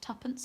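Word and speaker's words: twopence: seconds with words like two pence and three pence pronounced tuppence and threatens and for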